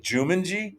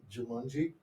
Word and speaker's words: Jumanji: janji did you say Jumanji jumongi is he for real are you saying that for real do you want me over how do you say how do you say Jumanji it's with an a what did he say